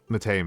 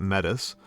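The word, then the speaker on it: Métis: That's pretty crazy if you ask me, because like I know what Mate means, and or as those Americans say it, metis, and it just like does not mean that.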